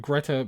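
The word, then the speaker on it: Grete: all this much longer now I'm pronouncing it Greta because I think that's a German pronunciation of of that name so it's not that I see an A and I'm hallucinating or something like that but I think that's the proper pronunciation they were cleaning out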